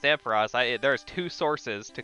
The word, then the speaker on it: Ampharos: it ampharos but it is it is officially pronounced ampharos there is two sources to confirm that it is called ampharos not ampheros all right cool let's throw a ball at